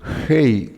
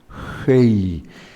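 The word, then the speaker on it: ה: Su equivalente en nuestro idioma castellano sería como nuestra H, que decimos es una H muda, pero su nombre es Hei, gutural, porque la pronunciamos con el aire que sacamos de la garganta.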